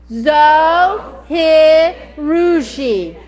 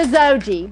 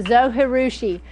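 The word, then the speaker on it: Zojirushi: Zoe Harushi. You would not believe the many, pronunciations of this machine. Of course, we all call it the Zoe. or the Zoji, but it is the Zohirushi.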